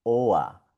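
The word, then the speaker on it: Ohr: La O con la R suena OA, OA, como esta palabra, OA, que significa oreja, OA.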